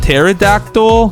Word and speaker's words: pterodactyl: Also, I know it's pronounced pterodactyl, but it's so much fun when you say with a P.